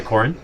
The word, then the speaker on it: Koren: It's K-O-R-E-N, So it's about right? you're about halfway between the two. Interesting. Yeah. It's Corin, K-O-R-E-N.